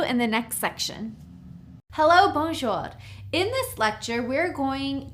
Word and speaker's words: bonjour: So to say hi, hello, hey, you would simply say bonjour. It's 2 syllables, bonjour. So you'd say bonjour.